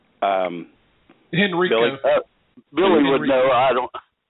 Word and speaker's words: Henrico: How's that pronounced? Henrico.